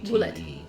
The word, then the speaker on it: Oubliette: It is Delvin Bulliet, which is spelled Oubliette. Bullet. So you don't say the O and the U.